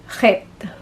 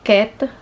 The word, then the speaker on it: Chet: ng Hebrew alphabet ay het okay het and it sounds like he so so kailangan niyo pong i-pronounce or ipalabas sa inyong lalamunan yung parang meron kayong plema Sorry po sa ating word